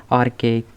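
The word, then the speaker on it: archaic: प्राचीन मतलब आर्केक। इसे हम बोलते हैं आर्किक।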